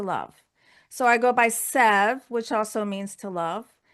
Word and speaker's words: Sev: English and it's very hard for Americans to pronounce se which means to love. So I go by Sev which also means to love and my last name to means full.